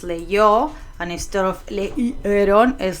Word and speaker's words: leyó: Instead of leío, es leyó, and instead of leyeron, es leyeron.